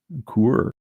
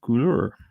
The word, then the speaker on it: coulure: The next one has a pronunciation for me. Let's see what Coulure.